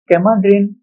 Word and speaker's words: Kemadrin: तो कैमाड्रिन या फिर कीमाड्रिन जो भी आप इसे कहते हैं क्योंकि दोनों नामों से ही लोग जो है इसे प्रोनाउंस करते हैं। कुछ लोग इसे कीमाड्रिन कहते हैं।